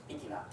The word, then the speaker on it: PTNA: Our organization is abbreviated as PTNA and pronounced as PITINA.